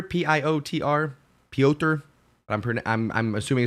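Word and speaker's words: Piotr: deserved it uh uh Peter is it just pronounced Peter p-i-o-t-r pioter I'm pretty I'm I'm assuming it's just pronounced Peter says it was a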